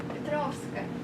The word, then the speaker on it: Petrovska: Pronounce your last name for us. Petrovska.